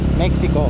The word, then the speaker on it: Mexico: Ay, yung mga taga rito, ang tamang pag-pronounce yan, kasi makikita mo yan, ang spelling yan, ano eh, X eh. M-E-X-I-C-O, Mexico. Pero pag naririnig ko yung mga taga rito, ang pagbigkas nila, Mexico.